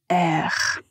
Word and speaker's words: air: Alors aujourd'hui euh je voulais vous parler du mot R. R ça s'écrit A I R.